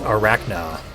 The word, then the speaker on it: Arachna: It's pronounced Arachna.